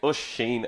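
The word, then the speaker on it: Oisín: i am oshina okay it's pronounced oh sheen as you can see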